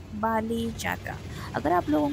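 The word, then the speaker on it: Bali Jatra: मैं जा रही हूं बाली यात्रा okay S N Oriya I should pronounce it ए बाली जात्रा अगर आप लोगों को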